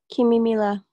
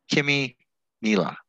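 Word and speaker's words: Kimímila: happy to hear that kimmy mila kimmy mila okay as if it was two names kimmy and mila yeah it means uh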